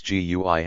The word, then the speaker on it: GUI: Modern operating systems use a graphical user interface, or GUI, pronounced GUI.